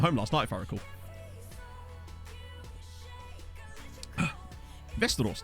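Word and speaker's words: Västerås: last night very cool westeros that's literally how it's pronounced as far as i'm aware is vestros or vestros um is it lindelof's old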